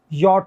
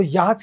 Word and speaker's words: yacht: Honest, YACHT यॉट, YACHT यॉट होता है। कई लोग इसको याच कहते हैं, ये याच नहीं होता, क्या होता है दोस्तों? ये यॉट होता है, यॉट, यॉट, ठीक है ना।